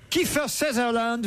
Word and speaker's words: Kiefer Sutherland: Kiefer Sutherland, Ah, c'est comme ça qu'on prononce.